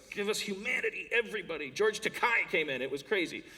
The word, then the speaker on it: Takei: us ity everybody George teai came in it was crazy it's pronounced te uh Jim Rash came